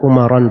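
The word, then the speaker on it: عمرا: Ya, bacanya Umaran ya, harusnya kan tidak boleh di tasrif ya, Umar harusnya, tapi ini ikut wazan syairnya. Iya, dia harus mengikuti wazan syairnya agar supaya wazannya menjadi mustaf'ilun, mufta'ilun, mafa'ilun.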